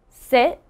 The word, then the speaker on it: sit: seat so you can see the difference between sit and seat seat hopefully you can hear the